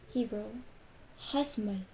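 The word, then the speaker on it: חשמל: The first one is from Hebrew. Hasmal, hasmal, hasmal means electricity. This one is from voiceless pharyngeal fricative.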